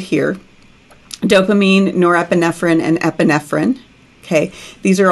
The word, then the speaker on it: norepinephrine: spell it correctly, because dopamine is pronounced dopamine even here in the United States. But norepinephrine is how we pronounce it here in the U.S. Other places pronounce it norepinephrine, which is a little more helpful in the context.